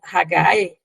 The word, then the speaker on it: Hagai: Hageu é pronunciada Hagai, e daria, deu em grego Ageu.